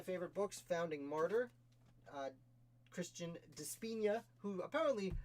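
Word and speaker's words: Di Spigna: Author of one of my favorite books, Founding Martyr, Christian Despina, who apparently, his name I've been pronouncing incorrectly for 4 years publicly on this channel. Sorry, Mr. Despina. The G is silent.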